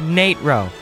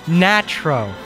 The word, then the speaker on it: Natro: the Nate row macro and yes it is pronounced Nitro stop calling it natural oh my God a lot of thought and